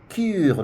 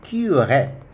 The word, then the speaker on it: curé: So cure, this one we will not say cure, no, it's cure. We pronounce that E because of the accent there.